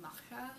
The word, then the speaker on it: Macha: favorite god would be macha which is m-a-c-h-a that's how i pronounce it she is the goddess